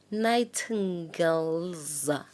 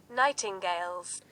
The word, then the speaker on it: nightingales: So the word has night AND no let me let me let me go and hear what how this one is pronounced. Nighting girls. Oh, listen. Listen, listen. Nightingales. Nighting girls. And I do not even